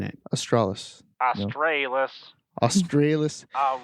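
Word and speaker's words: aurora australis: quick uh google tells me that it is pronounced aurora astralis we were both wrong the british pronunciation is aurora astralis yeah that's how i'm pronouncing it astralis australis australis it's the canadian accent australis it's true come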